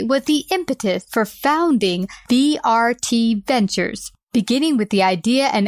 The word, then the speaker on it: VRt Ventures: And VRt Ventures, did I say it right? Yes, VRt Ventures.